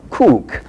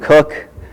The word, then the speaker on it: Kuuk: comes in and actually it's pronounced kook in Estonian cook in English and it means rooster